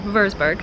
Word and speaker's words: Würzburg: a day in Frankfurt we are going to Vailsburg Vailsburg trying to say it like German würzburg two visits to see